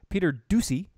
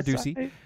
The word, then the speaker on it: Doocy: Fox News, Peter Doocy. I think that's how you say his name. Fox News is Ducey? Yeah, Peter Doocy.